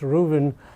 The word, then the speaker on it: Ruthven: article by malice rooven it's written ruthven but it's actually pronounced ruben in the new york